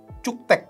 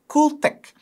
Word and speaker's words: Cuktech: Sekarang dia kayak rebranding, pakai namanya Cuktek, tapi sebenarnya bacanya adalah Cooltek. Jadi dia tuh kayak cool, kayak K-nya nggak kebaca gitu, gue nggak ngerti.